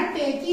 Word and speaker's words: take: ई जो है यहाँ पे साइलेंट है।